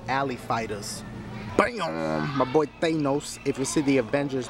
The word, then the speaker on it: Thanos: Fighters bam my boy Thanos if you see the Avengers movie I don't want to spoil it for you it's actually pronounced Thanos why you have to